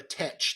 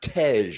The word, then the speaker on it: Tej: I think you're more of a Tech to me. Oh, I believe it's pronounced Tej.